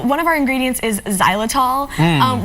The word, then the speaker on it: xylitol: of our ingredients is xylitol and which is ironically spelled with an accent but no it sounds like a Z uh but when we